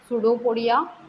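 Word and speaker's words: pseudopodia: इसमें फजला और सुडो सुडो पड़िया इसमें पी साइलेंट है सुडो पड़िया मतलब जो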